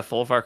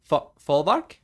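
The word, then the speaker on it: Folwark: Folvark? The Folvark? Mm. I think the W makes a V sound.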